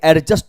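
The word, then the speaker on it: adjust: भी वर्ड के बाद किसी भी वर्ड में डी के बाद जे या जी आएगा तो डी आपका साइलेंट होता है प्रोनंसिएशन आपका बेहतर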